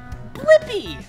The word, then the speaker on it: Blippi: have to do is search for my name blippy yeah let's spell it together ready b l i PP I blippy good job now you know how to say and spell my name see you again bye-bye